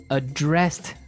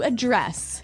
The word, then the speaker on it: address: ver address has the the stress on the second syllable okay address yes and